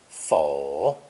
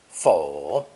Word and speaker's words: 否: So that's why it's the purple phonetic element in this new character, also pronounced third tone fo, fo.